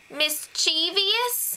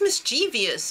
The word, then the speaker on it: mischievous: yeah mischievous you mean mischievous what's mischievous I never heard of that before Jeff you're not saying it right it's mischievous it's mischievous what's wrong with you pretty sure I'm